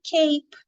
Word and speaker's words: cape: só com a cap mas se eu colocar uma vogal a mais a letra e dep depois do P já não tem o mesmo sol a palavra se torna Cape de capa que nem a capa do Superhomem mas algo importante de se ligar é que a palavra continua sendo de uma sílaba só e não duas é Cape só mudou